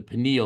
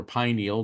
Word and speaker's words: pineal: There's a small gland between the size of a grain of rice and a lima bean, the pineal or pineal, depending on how you want to pronounce it, gland.